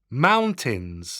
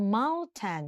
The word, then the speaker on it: mountain: ให้ ดู ตัว สะกด mountains หนู ได้ ยิน ใช่ มย เ ออก เฉียง ว่า Mountain นะ เน้น ที่ ตัว เ นะ คะ ไม่ ใช่ Mountain อย่าง งี้ ไม่ เอา นะ แล้ว Mountain นะ คะ